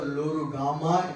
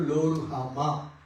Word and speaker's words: லோருஹாமா: இஸ்ரவேல் என்று சொல்லி ஒன்றும், அதுக்கப்புறம் பாத்தீங்கன்னாக்க நீங்க வரும் பொழுது இன்னொரு லோருஹாமா, இது தமிழ்ல லோருகாமா என்று இருக்கு. ஆனா இதனுடைய சரியான உச்சரிப்பு லோருஹாமா. ஹாமா என்பது காமா இல்ல, ஹாமா, லோருகாமா.